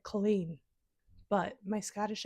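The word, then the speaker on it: Culzean: The pronunciation, please forgive me, it's spelled C U L Z, but it's not Coine, okay? It's like Colleen, but my Scottish accent needs some work.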